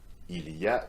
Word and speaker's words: il y a: In speaking, its pronunciation is, and you can repeat that after me, il y a. Very often in familiar context, French people say ya, so you completely drop the il in front, right?